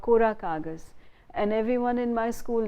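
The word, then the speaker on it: Kora Kagaz: now Jaya Bachchan, called Kora Kagas, and everyone in my school days would say, have you seen Gora Kagas? Because Tamil speakers would pronounce that film name as Gora Kagas, not Kora Kagas.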